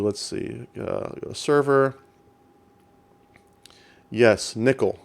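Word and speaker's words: N1QL: see a server yes Nikhil so n1 QL there's no talking you out here that's how we pronounce it n1 ql so this is just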